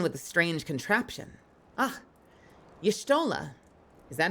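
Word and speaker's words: Y'shtola: Ah, Yshtola. Is that how you say it? Yshtola? Yshtola. Has a very Russian feel to it. Yshtola. Petrovius. No pronunciation of the Y, it's just Shtola.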